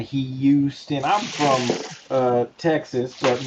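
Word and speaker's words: Graig Hyewstin: My name is Greg Houston. It's spelled just like it sounds. G R A I G H Y E W S T I N. Houston.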